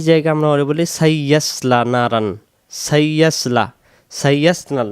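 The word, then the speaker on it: نَارًا: এটা আমরা অনেকে বলি নারান, নারান হবে না, নারন, নারন। এবং দুই জবরের পরে জাল থাকার কারণে এটা রং বলতে হবে। আর এখানে আলিফ অক্ষরটা উচ্চারিত হবে না, এটা অর্থের জন্য লাগবে, কিন্তু এখানে উচ্চারণ হবে না।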